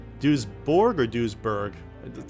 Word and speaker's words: Duisburg: I'm gonna keep saying Duisburg. I really gotta remember how to say it right. Wikipedia. I'm gonna get this down once and for all. Duisburg. Duisburg. Duisburg. Duisburg. Duisburg. Okay, I'm gonna say Duisburg.